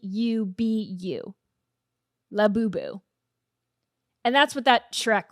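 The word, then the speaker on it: Labubu: It's spelled L A B Ubu. Lab Boooo.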